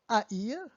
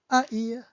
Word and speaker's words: haïr: So Noël, joyeux Noël, or haïr means to hate. H-A, I, tréma, R, haïr.